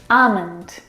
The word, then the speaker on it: almond: very comfortable this afternoon almond now in this word the L is silent it's not almond or